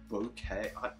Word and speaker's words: bokeh: Bokeh?